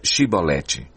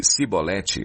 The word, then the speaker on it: Shibolete: Se respondesse que não, diziam: então diga Shibolete. Se ele dissesse Sibolete sem conseguir pronunciar corretamente a palavra, prendiam-no e matavam-no no lugar de passagem do Jordão.